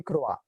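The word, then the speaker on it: croient: So do not pronounce ent. It will also be croa.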